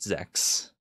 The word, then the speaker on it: Zex: a cute little sex or uh zeex is that the proper pronunciation H it's been so long since I've had to say it properly yeah I think it is zeex right okay yes it is in fact Zex oh geez oh my